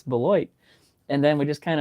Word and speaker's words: Beloit: He goes, nobody knows how to pronounce our city name. And he goes, it's Beloit.